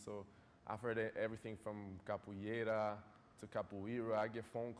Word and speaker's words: Capoeira: The word capoeira has been butchered. Capoeira.